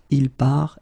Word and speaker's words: part: So phonetically, je pars, tu pars, il part, elle part.